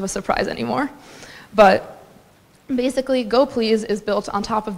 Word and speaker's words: gopls: on the community's needs and yes it is pronounced to go please even though it looks like it says go